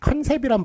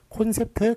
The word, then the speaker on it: 콘셉트: 그런데 컨셉이란 발음은 틀린 발음이고요. 컨셉트 뒤에 트자를 붙여줘야 돼요. 붙여줘야 되는데 과연 또 컨이 맞느냐 콘이 맞느냐 요게 이제 문제가 될 수가 있는데 자, 요거는 어떤 발음이냐면 시력검사 발음이에요. 요게 이쪽으로 뚫려 있죠. 이렇게 뚫려 있는 그런 시력검사 발음. 요거는 어떻게 쓰기로 했느냐? 오로 쓰기로 해줬습니다. 자, 그래서 콘셉트, 컨셉트 중에 뭐가 맞아요? 콘셉트가 맞는 거예요.